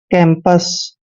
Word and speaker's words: campus: सी के बाद जब भी ए आता है तो सी का उच्चारण हम कै करते हैं और ए को ए की मात्रा पढ़ते हैं। एम का उच्चारण आधा मैं करते हैं, पी यू का उच्चारण यहाँ पर पै करेंगे और एस को से पढ़ते हैं। कैंपस।